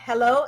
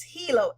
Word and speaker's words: Helo: one is about Hilo guys this is how Hilo is pronounced it's not hello it's Hilo h e l o and what it exactly